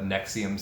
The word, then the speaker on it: NXIVM: There's the Nexium sex trafficking or Hollywood sex cult case. That's spelled like NXIVM, I believe.